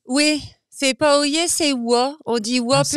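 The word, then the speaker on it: Oye-Plage: Oui, c'est pas Oyer, c'est Wa. On dit Wa Ah, c'est plage. Oui. Wa-plage, ça ça existe? s'écrit Oyer, mais ça se prononce Wa.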